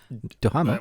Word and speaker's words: Duhamel: Duhamel.